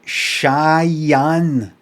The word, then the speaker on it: Cheyenne: it Wyoming very nice is it Cheyenne shy like pronounced just like I'm shy too shy shy and like shy on like something called on who's shy what's that